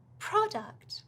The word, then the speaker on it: product: Product, so the stress is on the first syllable.